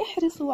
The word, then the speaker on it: احرصوا: نلاحظ وجوب ألف الفارقة بعد واو الجماعة. إذا أردنا أن نلفظها نقول احرصوا، لا نقول احرصوا، وإنما نقول احرصوا. إذن الألف ألف الفارقة موجودة، تكتب لكنها لا تنطق.